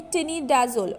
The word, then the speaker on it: tinidazole: Now it's the perfect pronunciation will be tinidazole.